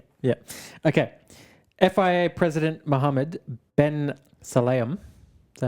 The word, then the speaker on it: Mohammed Ben Sulayem: FIA President Muhammad Ben Salam.